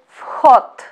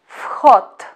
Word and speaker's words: вход: First word is вход. Вход. Вход, which means entrance. Please pay attention to the pronunciation of the word вход. First letter V we should pronounce as F.